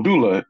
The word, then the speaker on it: doula: wifey does the is it angula how you pronounce that oh Doula Doula uh uh you know they they pretty